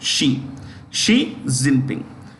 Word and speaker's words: Xi Jinping: Look at that. Xi Jinping. That's how you pronounce it. Xi Jinping.